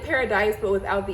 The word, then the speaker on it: Paradis: The color is blue it's spelled like paradise, but without the E. So I think it's like blue paradis or blue paradise. I'm not sure. I feel like it's like a French pronunciation of paradise, blue paradise.